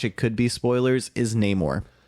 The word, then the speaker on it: Namor: could be spoilers is Namor or no more as the way he's pronounced they keep on Flipping between no more and Neymar but um but it